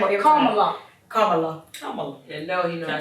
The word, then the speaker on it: Kamala: We're gonna call her Camilla. We mess her name up every time. Kamala.